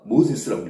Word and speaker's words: Moses: 모세는 영어로다가 모세스라고 읽습니다.